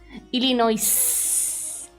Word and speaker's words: Illinois: The S is silent. Illinois.